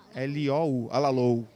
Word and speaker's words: Alalou: Alalou se escreve A-L-A-L-O-U. Alalou. A gente fala Alalou.